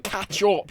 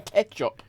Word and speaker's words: ketchup: ketchup eting cat ketchup you're not saying katchup you're saying ketchup stop bullying me cuz I'm from the Midlands we pronounce things oddly I I just want